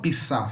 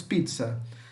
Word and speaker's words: pizza: som de TEC certo pizza se escreve com dois esses mas falamos como se tivesse um te nós não falamos pisar falamos pizza aqui ser a mesma coisa